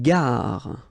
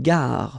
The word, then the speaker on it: gare: Une gare. Okay, remember when you get these G and A together, the sound is g, ga, ga. Une gare. Final not pronounced. Une gare.